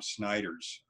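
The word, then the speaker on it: Snijders: program is developed by a guy named Tom Snyder's from the Netherlands s NIJ ers is the wave pronounced he spells his last name and Tom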